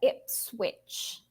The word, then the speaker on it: Ipswich: so yes it's very very strange it's uh Ipswich so as if you were saying you kind of pronounce it like that I see in the